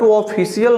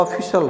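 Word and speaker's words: official: ऑफिशियल ही बोला जाएगा बट ऑफिशियल नहीं होता है वह ऑफिशल होता ऑफिशल और यह जो बोलते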